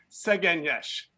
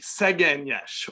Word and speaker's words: Szegényes: So let's do this Szegényes. Szeggenyes. And there's a long E over the middle E, Szegényes, or Marjah Pontozó.